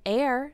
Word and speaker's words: heir: other gaseous elements an air spelled h eir the H is silent is a person when somebody dies they can designate an air to receive the dead